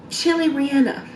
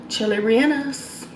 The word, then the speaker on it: chili relleno: This is the chili Rihanna. Chili Rihannas? Chili Rihannos. You got me.